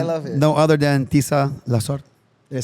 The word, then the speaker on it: Tisa Lasorte: no other than Tisa Lasorte.